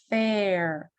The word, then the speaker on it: fair: Air, fair, pair. Это как будто I, она стала немой. It's basically silent. I becomes silent, and we just have air, fair, pair.